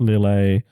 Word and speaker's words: Lille: just his last year, 20th at Dortmund, 2nd at Lille, 6th at Gdansk. You pronounce that different every time, and it's always wrong.